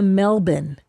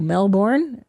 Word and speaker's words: Melbourne: And she goes, "We went to Melbourne." And I go, "Melbourne." She goes, "No, it's pronounced Melbour."